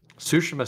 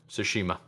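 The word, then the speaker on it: Tsushima: of tomato Tomo but it's definitely the t is silent so sushima sounds better I I definitely don't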